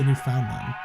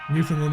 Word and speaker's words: Newfoundland: Do you say New Finland like New Finland or do you say New Foundland? Do you say the found? Do you pronounce the found? Yep. New Finland is what it sounds like.